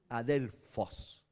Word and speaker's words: adelfos: p h o s con acento en la o final adelfos que significa hermano u